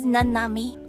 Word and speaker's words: Nanami: is actually pronounced namami my name is nanami oh my God you're